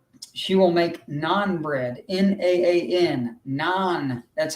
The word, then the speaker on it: naan: ever had or she will make naan bread n-a-a-n naan that's how you pronounce it and we have a version of